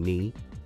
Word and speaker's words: knee: And in knee, the K is silent.